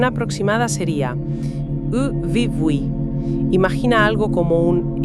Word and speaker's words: Yvyguy: La pronunciación aproximada sería U-vi-bui. Imagina algo como un ebugoui con la Y guaraní, que es un sonido vocálico particular, y una G suave al final.